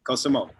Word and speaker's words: Cosimo: Cosimo. Yeah, that's right. It's correct pronunciation.